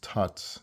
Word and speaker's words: Thoth: that he wrote regarding Thoth, which is pronounced Tat in the Hebrew Shemitic language, about what he wrote